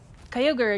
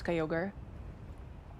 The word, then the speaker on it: Kyogre: the the one that Kyogre and Groudon and Ray Kuaza belong to.